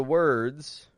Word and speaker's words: word: we do here well when we say word word first of all we're using a w then we're using a schw r and then a stop d word word now when